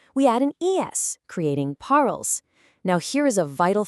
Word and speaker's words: parles: Even though tu parles has an s on the end, that s is completely silent. Je parle and tu parles actually sound virtually identical when spoken out loud.